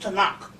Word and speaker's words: Tanakh: big and they got a book called the tanakh you can get them right there in barnes and nobles and borders the tanakh it's it's pronounced t-a-k-a-n-a tanak it's the way it looks but it's pronounced to knock and it's an old testament that's this thick